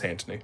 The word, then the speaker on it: Antony: Not Antoine, it's Antony.